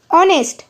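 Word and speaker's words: honest: কিন্তু উচ্চারণটা দেখ ভালের মত লাগ অনেস্ট।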